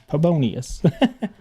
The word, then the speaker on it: Pabonius: The P is pronounced by itself, then Bonius. Oh, okay, Pabonius.